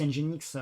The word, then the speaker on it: Nginx: Alors, le E qui n'existe pas, mais comme on prononce Nginx comme avec le mot engine en anglais, les gens qui voulaient